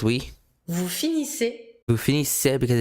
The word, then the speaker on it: finissez: Vous finissez. Vous finissez. Double S again. Final Vous finissez. EZ. Finissez. Finissez. Pronounced E.